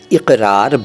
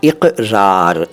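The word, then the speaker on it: اقرار: pronunciation पर ध्यान दीजिए यह है इकरार इक नहीं है इक मत बोलिए इकरार बिल लिसान ठीक है क और क अलग-अलग होते हैं क में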